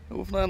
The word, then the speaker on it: Newfoundland: more than once that I have been maybe mispronouncing the name of this great province. Oh, Newfoundland. Newfoundland Labrador boy.